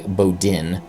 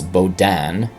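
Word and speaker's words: Baudin: by rear Admiral Charles I think it's an American would would say Bodin but I suspect it's bodan I'm still probably mispronouncing it either way you're welcome to correct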